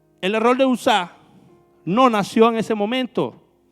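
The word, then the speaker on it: Uzá: Pero el error de Usa, para que no suene como Usa. Le voy a poner el acento en la A. El error de Usa no nació en ese momento.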